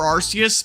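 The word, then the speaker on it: Arceus: Uh I honestly see Archus both ways. I will say Archus or Arus, but my default pronunciation is Archus. I don't know. To me, it rolls off the tongue better.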